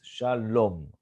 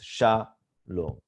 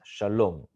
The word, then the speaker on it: Shalom: children but for now a correct pronunciation usually is the last syllable as distress Shalom and not sha low but Shalom okay so shallow means hello